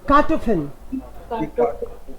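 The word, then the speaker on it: Kartoffel: Okay, दी कार्टोफिल, कार्टोफिल, fill, कार्टोफिल। फे पे रुकना नहीं है, डबल कॉन्सोनेंट है भाई।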